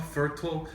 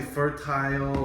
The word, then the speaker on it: fertile: Fertile. Pronunciation wise, I think you can say fertile or fertile. I think maybe British pronunciation is fertile, American is fertile.